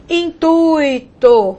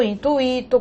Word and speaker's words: intuito: Há pessoas que pronunciam gratuito, fortuito, intuito, cuidado. Essas palavras não são hiato, né? Não tem pronúncia tônica do I, pelo contrário, elas são ditongo, e o ditongo aqui no caso mostra, o I é semivogal, ok?